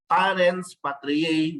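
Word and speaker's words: parens patriae: children that is why we have this principal parents patriar which means we are the state acts as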